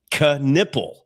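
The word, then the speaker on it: Knueppel: Canipple con like you're conning someone out of money.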